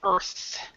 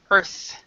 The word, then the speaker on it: earth: but say down to earth. Earth. Pronounce the TH. Say it again. Earth. Okay. So remember when you pronounce the TH, your tongue slightly comes out of your mouth.